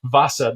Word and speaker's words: Vasa: W-A-S-A, Vasa, the Vasa. And it starts with a V. V-A-S-S-A? No. Did I say that? No, W-A-S-A. Definitely don't know that story. Please continue. The Vasa.